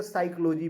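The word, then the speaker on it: psychology: ओ जी वाई और पी को silent करके साइकोलॉजी पढ़ते हैं यानी पी का उच्चारण नहीं करते हैं मगर हम वही देखें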